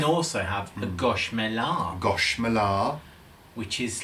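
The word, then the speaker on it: gâche: And Guernsey gosh is spelled Guernsey gash, Gash. but they don't like to use that word. Yeah. No. So they call it a gosh.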